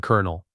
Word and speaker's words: colonel: Like corn colonel.